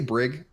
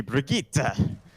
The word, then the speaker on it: Brigitte: You know how do you pronounce that? I say Brig. I just keep it simple. I guess it's supposed to be Brigitte. But They I always say Brigitte because I don't know.